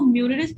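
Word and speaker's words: Meusnier: तो आज जो हमारा मोस्ट इंपोर्टेंट थ्योरम है उसका नाम है मिलरिस थ्योरम। इसकी प्रोनाउंसिएशन जो है वो काफी डिफरेंट है। कुछ लोग इसको म्यूरिस थ्योरम कहते हैं, कुछ लोग इसको मिलरिस थ्योरम कहते हैं।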